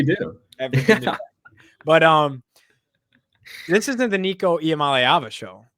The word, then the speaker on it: Nico Iamaleava: Nico Iamaleava. You nailed it. Thanks, buddy. Thanks, buddy. We take pride in that. We've been taught Yes, right. we do. But this isn't the Nico Iamaleava show, right?